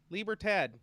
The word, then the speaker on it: libertad: is that how you say it though yeah libra tad libertad elite labor tab or tad hey that they